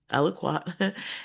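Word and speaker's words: aliquot: So you will need to transfer small aloquat aloquat of water to a beaker or other piece of glasswware before transferring the required amount to the flask. The term aloquat is pronounced aloquat and is typically used to describe small samples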